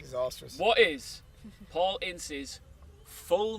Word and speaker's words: Ince: It's actually, I want to make sure I get the pronunciation right here, Ince.